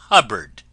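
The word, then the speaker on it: Hubbard: friends this is wonderful Dame hubard name that always rhymes with cupboard ever going out to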